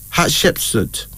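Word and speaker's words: Hatshepsut: t s h e p s u t hardship suit this Egyptian queen rule from four things 90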